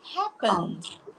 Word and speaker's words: happened: Quando nós acrescentamos ED, nós vamos colocar... O som vai ter um D muito discreto. Nós falamos called. Happened. Né? Nós não formamos uma outra sílaba.